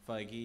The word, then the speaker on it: Feige: Black Panther, producer Marvel's Kevin Feige. Is it pronounced Feige? Feige, yeah. That's correct.